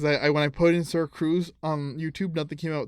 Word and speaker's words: SirxCruzz: With the X is silent, obviously with my name, but yeah, SirxCruzz.